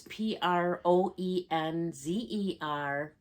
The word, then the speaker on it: Proenza Schouler: No, it's Proenzer Schouler. It's pronounced purse.